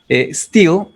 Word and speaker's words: steel: Este steel es acero y este es una doble E en inglés que se pronuncia como una I del español, pero es más larga.